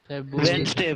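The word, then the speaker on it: Wednesday: तुम लोग बुधवार को क्या प्रोनाउंस करता है, कोई बताएगा? बुधवार को बुधवार को इंग्लिश वेडनेसडे। वेडनेसडे, और कोई? वेंसडे वेंसडे। वेंसडे। वेंसडे, बढ़िया। सर वेंसडे। हाँ, वेडनेसडे नहीं होता रे गधा, क्या इंग्लिश पढ़ता है।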